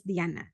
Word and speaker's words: Danna: it's their name is Diana. It's not Diana it's Danna.